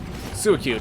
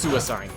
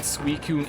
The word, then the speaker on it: Suicune: back in second gen, we always thought it was pronounced Suicide. It wasn't until I watched a movie that had Suicune in it that I knew I was pronouncing it wrong my entire life.